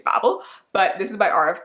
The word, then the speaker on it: Babel: literally everywhere, and that is Babel or Babel. Some of you commented on my last video and said I was saying it wrong, so maybe it's Babel, but this is by R.F.